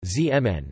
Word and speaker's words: Zeeman: The Zeeman effect, Dutch pronunciation, Zeeman, named after the Dutch